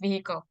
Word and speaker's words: vehicle: gak usah dihle Oke this one is just vehicle vehicle vehicle kendaraan itu doang Miss pronounnya hati-hati